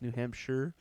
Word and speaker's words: New Hampshire: That's probably how it's supposed to be pronounced, New Hampshire.